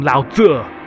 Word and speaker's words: Lao Tzu: on some books too, you know, maybe some Lao Tzu. Yeah, that's that's how you pronounce it.